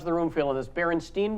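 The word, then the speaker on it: Berenstain: room feel on this Baron Steen Bears Baron stain Bears how do you remember it what do you remember do you remember you remember with an e and then who said stain jmax says Baron stain what the Jamal I was a huge fan and I think I always said barenstein yeah e or a I'm thinking an I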